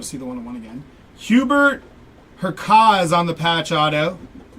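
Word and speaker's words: Hubert Hurkacz: Hubert Herkaz on the patch auto. We're going to go with a silent C on that one.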